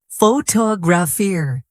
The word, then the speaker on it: photograph: Now, photographer. Do you hear the difference? In photograph, the stress is on the first syllable, but in photographer, it moves to the second.